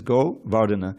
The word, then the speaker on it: Govardhana: This word vardatam should be familiar with us in the name Govardhana. No one pronounces it that way, but that's what it is, Govardhana.